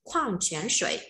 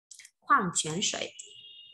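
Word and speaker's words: 矿泉水: Để đọc là khoang chén sợi. Từ này trong phần từ mới các bạn có đấy. Khoang chén sợi.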